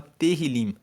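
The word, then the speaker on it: Tehillim: Então, o livro de Salmos, inclusive no texto original hebraico, ele se chama Terrilim, que se escreve T e H.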